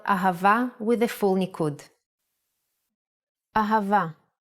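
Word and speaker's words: אהבה: Now let's spell ahava with the full nikud.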